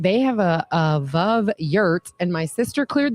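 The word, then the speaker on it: Veuve: They have a VUV yurt, and my sister cleared the air with them. She walked in acting like she knows something, being like, my sister says it's VUV.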